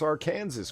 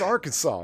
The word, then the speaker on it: Arkansas: listen to the otter he can't even pronounce our Kansas correctly well our kids joke people like me you realize it's Arkansas right yeah I do realize